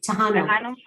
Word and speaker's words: Tejano: How is it pronounced? Tejano.